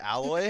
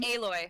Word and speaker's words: Aloy: Not is it Alloy? Is that how you say her name? Aloy. Aloy? Aloy.